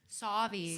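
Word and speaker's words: Sauvie Island: She was born on Suave Island. Is that how I say it? Suave? Savi.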